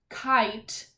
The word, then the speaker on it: kite: And we hear in the word kite, the vowel I is making the long I sound. Kite. It's saying its name. And often when you see that, there's a silent E at the end. There's a silent E at the end of this word, kite. Because if there wasn't, the word would be kit. But our word is kite, kite. So we need that silent E.